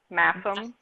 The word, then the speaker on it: Masham: Heather of Fibers was talking about Masham, and she is saying that it's, according to her distributor, it's actually pronounced Massam.